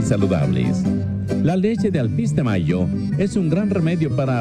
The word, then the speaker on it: Mallo: Y Mayo se escribe como gallo. L-L-O, Laboratorios Mayo.